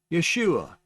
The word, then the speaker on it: Yeshua: is rendered as ah so this is a pronunciation in English by using the Hebrew spelling yeah shhh ooh ah yes you are Yeshua it's that simple it's very easy translating from